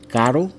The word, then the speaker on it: caro: If it's in the middle and it's only one R, caro, which is expensive, carro, which is R. That's two R's. Carro, two R's, caro, one R. Little difficult for some American people to pronounce.